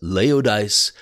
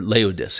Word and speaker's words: Laodice: He had a bride and her name was Laodice the Fourth. Now, why is that important? Or Laodice, excuse me, I mispronounced that.